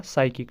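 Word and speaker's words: psychic: Sign भी आ जाएगा, एंड क्या है ये वाला, साइकिक, ठीक है, इसमें भी P साइलेंट है, ठीक है।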